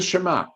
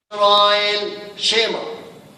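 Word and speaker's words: שמע: Shema. What the meaning Shema? Okay, so if you notice, it says Shema instead of Shema, the accent on the beginning syllable, and the again, ayin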